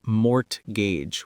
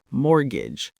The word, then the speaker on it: mortgage: The mistake I hear most often is mortgage with that hard t sound. But in English we say mortgage. Think of it like more ridge smooshed together.